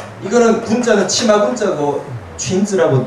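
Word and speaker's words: 裙子: 이거는 군자는 치마 군자고 춘즈라고 늘 쓰는 거고요. 당신을 미혹하게 하는 치마. 미니친 이렇게 씁니다. 그러니까 그냥 미니라고 하는 발음을 가지고 오는데 뜻을 갖다가 만들어 보는 거죠.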